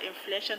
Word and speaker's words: influential: In the word influential, the stress is on fluen. Influential.